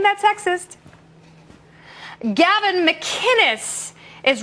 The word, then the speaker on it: McInnes: McInnes, it's a hard C.